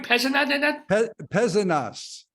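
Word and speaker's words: Pézenas: peasant where are you peasant us we pronounce the s's at least in the South so it's between uh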